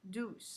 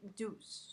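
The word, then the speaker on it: Dews: Douce, ça s'écrit Douce. J'arrivais pas à le dire Douce. C'est D-E-W-S.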